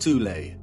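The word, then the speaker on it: Thule: called the th Society sometimes alternatively pronounced tulle that had subactions within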